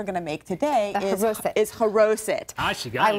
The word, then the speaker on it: Charoset: And one of them in particular that we're going to make today is Charoset. Ah, she got it. I learned. You got it. It's perfect pronunciation.